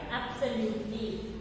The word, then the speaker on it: absolutely: First one, absolutely. Absolutely will come in 3 vowel sounds column. See, absolutely. A, O and U only sounds. E is silent here.